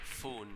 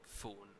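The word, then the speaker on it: Phoon: He said it's P-H-O-O-N, pronounced spoon. So I'm thinking foon maybe. I don't think poon. I'm thinking foon possibly.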